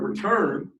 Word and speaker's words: return: So in the word return, the stressed part is turn.